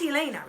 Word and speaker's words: Alayna: asks me about her that's Alayna reply rhymes with pain she frowns everybody says